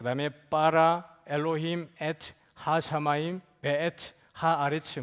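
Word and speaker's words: בָּרָא: 요 중간에 여러분 요 점이 하나 들어가 있잖아요. 점이 들어가면 발음이 강해집니다. 그래서 빠라 이렇게 돼요. 여러분 나중에 딱 이 점이 빠지면 뭐라고 읽어야 되냐면 바라 이렇게 읽어야 돼요. 점이 들어가면 빠라 이렇게 되는 거예요.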